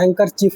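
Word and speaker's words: handkerchief: हैंकर चीफ होता है। हैंकर तो बोलते हैं लेकिन उसमें बी लगता है। बी साइलेंट होके पढ़ाता है।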